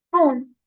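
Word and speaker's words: ぷん: Kemudian pun. Kemudian pun. Ini bacanya agak ditekan karena ada sekecilnya.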